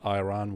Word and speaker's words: Iran: As Iranian, I should say it's pronounced Iran. Iran. Thank you. In in Czech we say Iran and I've heard so many times like in the news that it's Iran like I ran as in like sprinted you know but